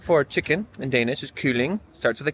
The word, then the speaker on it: kylling: The word for chicken in Danish is kylling, starts with a K.